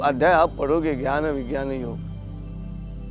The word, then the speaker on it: योग: में बात करते हैं मूलत उसका उच्चारण योग होना चाहिए योगा य उच्चारण गलत है कृपया आप ध्यान में रखिएगा कहीं य मत कगा कि योगा योगा कर कहिए योग कहे क्योंकि योग शब्द में